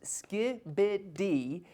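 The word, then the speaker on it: skibidi: And yes, it is pronounced Skiibid.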